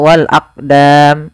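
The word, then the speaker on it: والأقدام: qamariah kemudian pfal aqdam di sini ada huruf qf yang disukunkan maka ketika ada huruf qf atau yang semisalnya yaitu huruf Qalqalah maka cara membacanya yaitu kita memantulkan huruf qnya yaitu kita pantulkan Maaf kesalahan yang terjadi sama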